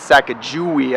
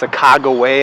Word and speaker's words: Sacajawea: gonna go hike Sacajawea that's right I said sack of jewy I know a lot of people say it's a cago way uh there's other ways to say it but